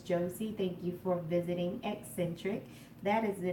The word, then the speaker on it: Xsintrik: Thank you for visiting Eccentric. That is the name of this channel. That's how it's pronounced. Eccentric.